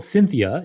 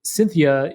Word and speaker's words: Syntheia: the company is called cynthia it's it's spelt wonderfully so it sounds like the woman's name cynthia but it's spelt like synthetic uh s-y-n-t-h-e-i-a cynthia and cynthia is a machine learning